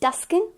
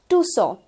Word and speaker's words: Tucson: So यहाँ पर it's not going to be Tuscan, but it's going to be Tucson. That's the correct pronunciation.